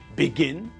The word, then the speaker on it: begin: If the verb has got more than two syllables and the last part of the word is stressed, then we double the last letter before we add the ing ending.